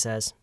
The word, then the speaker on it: says: You never say says. You say says.